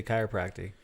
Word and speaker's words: chiropractic: So, what made you want to get into chiropractic? Is that how you say it? Chiropractic? Yeah, is it? chiropractic. So Chiropractic. it's such a weird word Yeah. when you so say it. it ends in tick.